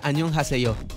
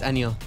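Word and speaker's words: 안녕하세요: Hola y buenos días en coreano se pronuncia Annyeonghaseyo. Sí es ye, no es anyo.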